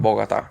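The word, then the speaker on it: Bogotá: Bogota. Yep. Bogota got the little accent on the A.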